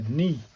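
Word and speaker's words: に: It's a knee.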